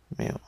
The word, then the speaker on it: mu: This is pronounced as mu.